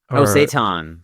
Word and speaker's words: seitan: Is it seitan? Seitan.